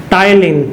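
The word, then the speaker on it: ptyalin: टाइलिन, PTYLIN, टाइलिन enzyme, P silent है इसमें, टाइलिन enzyme और एमाइलेज, ये 2 मुख्य एंजाइम लार में पाए जाते हैं।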